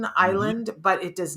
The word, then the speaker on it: Iland: Now, here's the thing about when you say island, because it's pronounced just like the piece of land out in the ocean, Mhm. island, but it does not have the S.